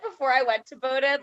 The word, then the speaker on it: Bowdoin: a word other than bowdoin that has a silent o right in there i will say like before i went to bowdoin like bo doing about